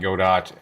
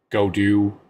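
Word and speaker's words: Godot: through it and yes I will exchange good and God Dot and Goot and go do and all kinds of other pronunciations for God do I think I settle mostly on God do but h I want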